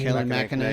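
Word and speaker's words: Kayleigh McEnany: Kaylee McEnany.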